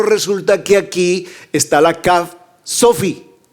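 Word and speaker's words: כף: A ver, estoy hablando de la letra 20, la CAF, perdón. Sí, gracias, gracias por corregirme. Gracias. Sí, no la COF, sino la CAF. ¿Cuánto vale la CAF? 20. Pero resulta que aquí está la CAF Sofi.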